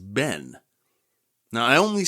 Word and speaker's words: Behn: a doctoral student, and my professor at the time pronounced her surname Behn, and that's kind of what I've become used to. While refreshing my knowledge of her for this episode, I discovered that the proper pronunciation is Ben.